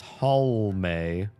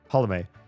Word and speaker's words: Halme: They say it wrong, and they really want to drop that last E. If there's an E in my name, it's there for a reason. Pronounce the E. I don't know why, especially English speakers love to drop letters. But my last name has an E, and it is pronounced.